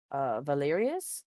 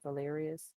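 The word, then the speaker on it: Valerious: Anna and uh valken Valerius is that how you pronounce their last name Valerius I think so yes cool um God um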